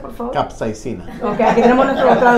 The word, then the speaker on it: capsaicina: Roger, ¿cómo se pronuncia, por favor? Capsaicina.